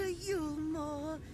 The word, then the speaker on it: Yulmore: Welcome to Yulmore. Oh, I was pronouncing it correctly.